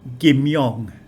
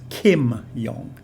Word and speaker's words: Kim Yong: yeah there's a very famous market called uh gym young but because of the transliteration system it's translated as kim young but we know so